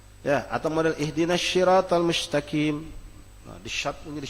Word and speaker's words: mustaqim: Mustaqim dibaca mustaqim. Ghairil maghdu, dot dibacanya ghairil maghdu dengan dal.